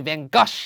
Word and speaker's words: Van Gogh: I know all you art nerds out there are like, it's actually Van Gogh or Goff or whatever. It's pronounced Van Gogh. I think if I were to pronounce that properly, it would take an enormous amount of effort and it would come off as me being pretentious.